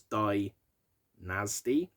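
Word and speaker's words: Dynazty: vocalist for band called dynasty but it's spelt with a zed so it's dai nasty and apparently he also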